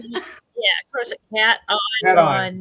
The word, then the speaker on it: cation: Cat ion? Yeah, of course, cat Cat ion, not cation.